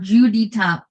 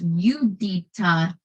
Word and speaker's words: Judita: Not Judy. Not Judita. Not Yeah, most Americans say, when forced to pronounce her given name. Instead, she pronounces it just as her mother does, Yudita.